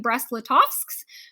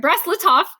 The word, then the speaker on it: Brest-Litovsk: So they negotiate the Treaty of Brest-Litovsk. I didn't say it right. Brest-Litovsk.